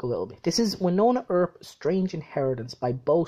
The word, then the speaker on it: Wynonna: to all the Americans that's Winona or not Wynonna herb you pronounce the wire like an eye you know that really